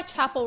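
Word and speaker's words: Chappell: the song is by Chapel rone it's like the normal word Chapel like a church chapel but it's spelled with two L's instead of one I'm pretty sure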